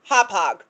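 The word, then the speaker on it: Hauppauge: Um, our dear friends over at the Midnight Train podcast, just so you know, that town 15 miles north of Gilgo Beach that you were trying so adorably to pronounce is Hopog.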